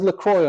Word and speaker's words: LaCroix: Well, this was actually pioneered by another Toastmaster and public speaker named Darren Lacroix. It says LaCroix on the whiteboard, but his name is actually pronounced Lacroix, like the drink.